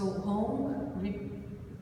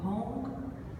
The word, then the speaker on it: Hong: So Hong rhymes with song, Hong, and Saw, like it's the same past, it has the same pronunciation of the past of the verb to see, right?